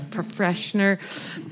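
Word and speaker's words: Pfretzschner: It's P-F-R-E-T-Z-S-C-H-N-E-R, Freshner, pointed out in 1965,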